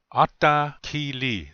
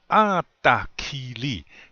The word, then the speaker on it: atakili: Normally you say it like that. Ata. You kind of elongate that yeah, the first one. So you say atakili. That's how you say it. You don't just say atakili.